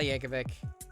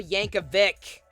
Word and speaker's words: Yankovic: where'd all yankovic like no there's no h at the end weird al yankovic yankovic no stop you're hurting my ears yankovic do you see an h no then why are you pronouncing it you got tickets